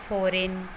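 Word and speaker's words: foreign: जब भी जी के बाद एन आता है तो वो जी साइलेंट होता है. फॉर example डिज़ाइन, फॉरेन, sign.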